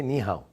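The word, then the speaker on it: 你好: How do you say ni hao?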